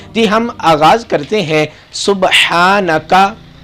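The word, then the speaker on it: سبحانك: ہم آغاز کرتے ہیں۔ سبحانکا، ہا گلے سے نکالنا ہے۔ اگر ہم ہا سینے سے نکالیں گے، سبحانکا پڑھیں گے تو اس کا ترجمہ تبدیل ہو جائے گا، کیونکہ عربی زبان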